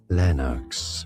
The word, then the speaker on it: Lennox: This is this is Lennox from Scottish and name pronunciation English pronunciation Lennox from Scottish and garlic origins meaning with many elm trees.